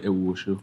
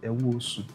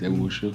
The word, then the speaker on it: Ewuoso: So it's Ewuoso. Ewuoso. Ewuoso, yes. I've always said Ewuoso. No, it's Ewuoso.